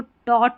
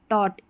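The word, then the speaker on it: taught: देखिए इसको टी ए टी ए यू जी एच टी को टॉट पढ़ते हैं टॉट जी एच है ना यह साइलेंट है ही टॉट एवरीवन एवरीवन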